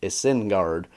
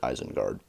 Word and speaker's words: Isengard: word actually so yeah it would be a sin guard and that's just so dumb sounding everybody knows it's eisenguard Tolkien pronounces it eisengard and of course reading